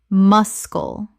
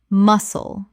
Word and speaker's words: muscle: wrist wrist Word 196 muscle Common mispronunciation mus-cal Correct pronunciation muscle The C is completely silent. Two syllables.